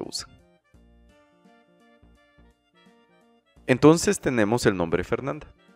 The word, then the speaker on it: Fernanda: Entonces tenemos el nombre Fernanda. Lo podemos dividir en tres sílabas. Fer, nan y la última, da. Repitámoslas. Fer, nan y da.